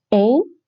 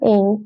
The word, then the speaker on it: een: You would think this een. It's not ain. It's not pronounced ain here.